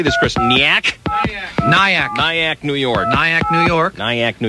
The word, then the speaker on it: Nyack: Nyack.